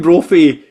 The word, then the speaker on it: Brophy: Eamonn Brophy rhymes with trophy.